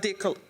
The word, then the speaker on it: Decatur: still haven't heard of Decatur until today, Dracula with no R, okay?